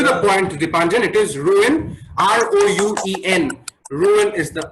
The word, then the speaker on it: Rouen: It is Rouen.